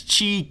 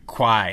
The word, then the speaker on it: Qi: wireless charging support built into Nexus 4 that's Chi Qi notq or Qui it's pronounced Chi we got a look it up